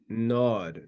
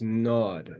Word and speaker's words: gnawed: That word there is gnawed. The G is silent. It's gnawed. The dog being gnawed.